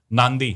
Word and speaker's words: Nadi: एक ना फिजी खोलना, फिजी में एक आइलैंड है नांदी, स्पेलिंग उसकी NADI है, एन मत लगाना स्पेलिंग में, NADI स्पेलिंग नादी है, वैसे नांदी है भाई।